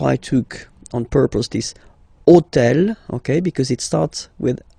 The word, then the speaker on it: hôtel: And third example, so I took on purpose this hôtel, okay, because it starts with H, but remember that in French we don't pronounce H, okay, so basically the